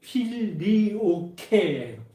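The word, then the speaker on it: Filioque: 필리오켓 필리오케 정확한 발음이 필리오케 이런 그쟁을 이르는데 이게 무슨 뜻이냐면 그리고 아들이라는 뜻이에요.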